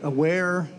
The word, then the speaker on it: Awair: At home, I have two of the Aware Element monitors, and I really like those a lot. It's spelled AWAIR is the name of the course company.